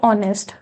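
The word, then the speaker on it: honest: Dash ऑनेस्ट, तो यहाँ पर एच साइलेंट है ओ की, यहाँ पर साउंड है तो आएगा एन।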